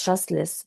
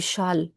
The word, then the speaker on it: Chasles: Hier, j'ai, j'ai, j'ai fait une relation entre comment on prononce chasseless. En anglais, on dit chasseless. En français, on dit la règle du châle. On ne prononce pas les S.